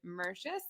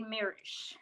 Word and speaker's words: Mirisch: the Golden Stars, David Mercius. I might be saying it wrong. Is that right, Mercius? David Mirisch. Mirisch. Okay, thank you for correcting me.